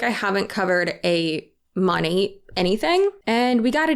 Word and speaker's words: Monat: Monat, which stands for modern nature, Monat.